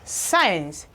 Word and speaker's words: science: It says C is silent before I, E or Y, and after S. C is also silent in the combination of CK. Now we have these examples. We have science, science.